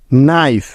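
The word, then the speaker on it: knife: নিয়ম এন এর আগে কে থাকলে ওই কে টা সাইলেন্ট বা উজ্জ্ব হয়ে যাবে যেমন নো কে এন ও নো নাইফ কে এন আই এফ ই নাইফ knock K এন ও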